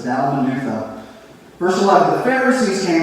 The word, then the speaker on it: Dalmanutha: Yeah, sometimes even the pastor gets confused by how you pronounce some of those wild words, right? But it's Dalmanutha.